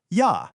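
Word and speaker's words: ja: The German J is pronounced just like the English Y. Always. The most famous example, of course, is the German word for yes, ya, which is pronounced ya.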